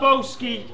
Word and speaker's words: Bowski: Yo, Matt Bowski rhymes with ham toasty.